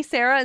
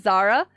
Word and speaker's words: Zara: take the elevator I've actually had people call me Sarah instead of Zara thinking that was how you say it yeah my brain just